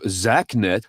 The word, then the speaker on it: Xaknet: The pro-Russian group Zaknet, that is spelled Xaknet, claimed responsibility through their Telegram channel.